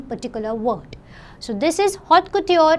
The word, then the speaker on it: haute couture: Haute if we say it generally by English, but it is not haute since it's a French term, so it's pronounced a little different way. It's pronounced as haute couture.